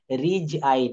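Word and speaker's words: resign: ডব্লিউ ও আর ডি ওয়ার্ডের শেষে জি অথবা এন থাকলে তার উচ্চারণ আইন হয় অর্থাৎ উচ্চারণটা শেষে কিন্তু আইন হয়ে যাবে একটু উদাহরণ এখানে একটা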